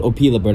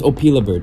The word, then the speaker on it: Opila Bird: I think it's called Opa bird I think I was pronouncing it wrong I was pronouncing it wrong it was opila bird so opila bird you